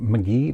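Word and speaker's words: Magee: of the Sherry Maggie I always pronounce this wrong McGee Maggie it's not Maggie you can tell me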